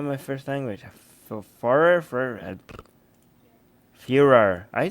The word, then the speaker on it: Führer: The Führer, the Führer, is that how I say?